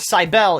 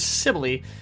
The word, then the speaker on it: Sibylle: I looked up how to say it, and it's not Cybele, it's Sibylle, which is, I mean, it's fine.